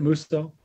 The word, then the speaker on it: Musso: Is it Musso? Yes, it's Musso for the record, and